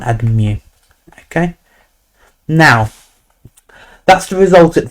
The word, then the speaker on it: mu: So lambda is pronounced lambda, like this. It's written like this, and mu is mu.